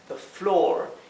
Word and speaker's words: floor: También tenemos the floor floor y otra vez la palabra la o se pronuncia como una o larga floor floor que es el piso